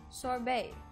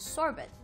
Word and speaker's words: sorbet: pronouncing the word sorbet sorbet often mispronounced as sorbets sorbet is a frozen